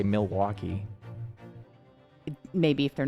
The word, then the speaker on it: Milwaukee: There's no L in Milwaukee. There's not? There's not when Is it just Milwaukee? It's not when you say it. Milwaukee, you spell it. Milwaukee, Wisconsin. No, you spell it that way, but when you say it, you don't say it.